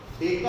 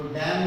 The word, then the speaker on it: डेका: इसका प्रोनाउंसिएशन जो है, अगर मैं DAM लिखता हूँ, सपोज DAM, तो डैम नहीं बोलेगा, डैम नहीं बोलते इसको हम बोलेंगे डेकामीटर। प्रोनाउंसिएशन डेका करना है, जैसा हम यहाँ पर के नहीं बोलते, KM नहीं बोलते, हम किलोमीटर बोलते हैं, किलो बोलते हैं। इसको हेक्टो बोलेंगे तो DA को क्या बोलेंगे, डेका।